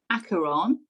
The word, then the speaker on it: Acheron: final season of the walking dead episode 1 acheron because i found out that was how you pronounce it it's greek it actually relates to